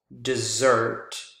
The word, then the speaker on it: dessert: If you stress the wrong syllable, for example, dessert, second syllable is different from, but sounds similar to desert.